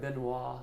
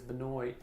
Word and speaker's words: Benoit: Benoit, it looks like Benoit. Sure. But it's Benoit. They pronounce it.